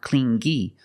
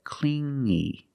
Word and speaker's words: clingy: he was too clingy you hear the sound only the nasal sound here no good not clingy but clingy clingy he was too